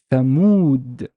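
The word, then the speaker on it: ثمود: So that means that the waw is a long vowel. It's not a short one. So how would I pronounce it? Thamud, Thamud, Thamud.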